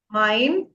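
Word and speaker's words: mein: Mine. How will you pronounce this? We have ei. Ei is I. Mine. Mine. M E I N. Mine.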